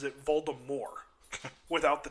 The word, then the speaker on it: Voldemort: But J.K. Rowling had actually once said that it was supposed to be pronounced Voldemort with a silent T.